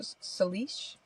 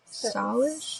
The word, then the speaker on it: Salish: We're gonna butcher this and I'm so celish. Salish.